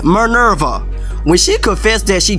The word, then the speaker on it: Minerva: Like when Minerva, can I pronounce her name right? It's Minerva.